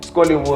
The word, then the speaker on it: Skolleywood: a very special guest scotland what's going on myself why am i scared well first of all if you listen to my name rhymes with hollywood exactly already made it